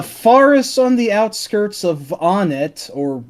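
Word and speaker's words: Onett: It's want. Onnet. Oh, It's really? What? Wow. The theming is want, Tucson, Threed, Fourside. So it's want.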